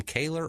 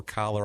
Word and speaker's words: Kaler: We'll call him Kaler or Collar. I've heard it pronounced both ways. We're going to call him Kaler.